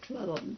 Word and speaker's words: Cleland: And there's preacher to the university, Duke University, was James Cleland. He pronounced it Cleland because he came to Duke's directly from Scotland.